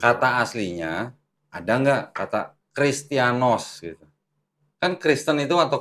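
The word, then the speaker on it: Χριστιανός: apa strong numbernya 5546 ya nih 5546 christianos bacanya christianos Christian ya bacanya christianos tulisan yunaninya perhati nih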